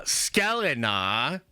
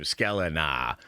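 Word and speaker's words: Sklenar: Um Brandon uh Skeleina, and thank you chat for confirming that is exactly how you pronounce his name. What a badass last name. Skeleina.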